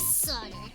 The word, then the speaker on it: solder: Pronounced commonly solder, but we'll just go with we like pronouncing the L to enrage people.